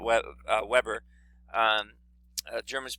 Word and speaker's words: Weber: name of max weber he's german so it's pronounced weber not web uh weber um germans pronounce their w is like these